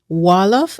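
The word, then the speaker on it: Wolof: Fuller, French, Wallof and English. Do I have the right pronunciations?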